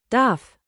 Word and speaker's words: Darf: Say "Daf" with a clear F, then the soft German sound like air slipping over your tongue.